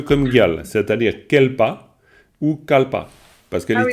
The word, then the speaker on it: kalpa: Parce que le mot en sanskrit, c'est kalpa, clairement. C'est pas kelpa, c'est kalpa.